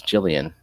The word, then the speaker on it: Jillian: sorry muppet hi muppet your name is jillian that is just a fact about you rhymes with lillian it does i like